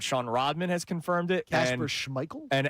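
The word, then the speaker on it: Kasper Schmeichel: Uh by the way, Casper Schmeichel is the correct pronunciation. Oh, proud of you. Our in-house soccer expert Sean Rodman has confirmed it. Casper Schmeichel and our uh overseas uh Kieran uh has confirmed it.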